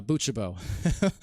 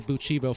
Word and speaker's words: buchabo: once i'm corrected usually the exception to that rule is uh uh buchabo over north america i couldn't help but say buchibo for the longest longest time